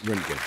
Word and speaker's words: Röntgen: Yes, usually pronounced Röntgen, Wilhelm Röntgen.